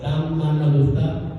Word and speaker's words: Dalmanutha: So first of all, you need to know that Jesus was in the region of it's a hard name to pronounce, but it's Dalmanutha, whatever.